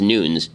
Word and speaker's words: Nunes: I'm being told that it's it's not pronounced Nunes even though everybody pronounced it that way it's actually pronounced Nunes I have no idea